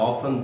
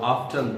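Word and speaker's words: often: I have ऑफन thought और ऑफ्टन thought, ऑफन भी correct pronunciation और ऑफ्टन भी।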